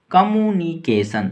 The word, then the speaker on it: communication: कम्युनिकेशन, COMMUNICATION, इसको बोलेंगे कम्यू NI यानी नी, CA यानी के, TION यानी सन।